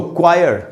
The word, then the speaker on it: choir: हैं चर्च में, उसको क्वायर कहते हैं। तो यहाँ पर आप देखेंगे तो CHOIR, तो यहाँ पर H जो है वो साइलेंट है।